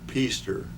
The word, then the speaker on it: Pester: be here okay would you please uh pronounce and spell your full name for us please peaster p-e-s-t-e-r okay and when and where were you